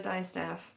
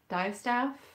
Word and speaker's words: distaff: dress the dice the i keep calling it a die staff sorry i think i probably call it dystop because it's a little bit like how you would pronounce dioxide dive staff but then you know